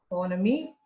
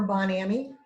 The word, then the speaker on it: Bon Ami: else from our collection soap pronounced either on a me or bon ami it's soap that was